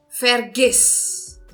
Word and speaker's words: vergiss: Então, nós temos como exemplo vergiss. Vergiss. Então, verifiquem, eu estou entonando a última sílaba. Eu estou dizendo vergiss. Esqueça. Então, eu estou entonando o I aqui, certo?